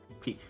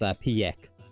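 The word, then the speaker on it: Pieck: Peak. I always think it was like pronounced Piek.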